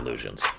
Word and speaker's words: Lugian: So these are Lugians, or Lugians, but no, these are Lugians. That is actually how it's supposed to be pronounced.